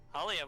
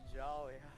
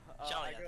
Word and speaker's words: Jalia: Halia, what would you like to do? Or Jalia, sorry, I forgot how it's pronounced. Yeah, it's Jolly. Jalia, thank you.